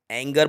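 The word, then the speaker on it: anger: Next, जैसे कि एंगर, इसको एंजर नहीं, एंगर बोला जाएगा।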